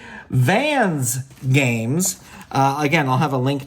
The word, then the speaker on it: Vans Games: Again, as I said, you can go to the website, which is Van Games. Let me make sure I'm saying it correctly. Vans Games.